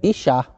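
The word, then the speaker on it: אישה: Essa é a palavra, se eu quero pronunciar homem em hebraico, é ish. E mulher, ishá, que é da mesma raiz.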